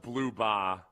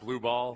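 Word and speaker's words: Blubaugh: They did point out that it's pronounced Blueba. I don't know. Maybe maybe with the implication that is not Blue Ball.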